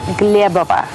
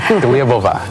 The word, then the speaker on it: Glebova: Well, in Russian, it's Glebova. Glebova. Yes. That's pretty hard, huh? Glebova. Yes. And in English, people would say Glebova. Glebova. Glebova. Now, I hear Thai people always pronounce my name Glebova.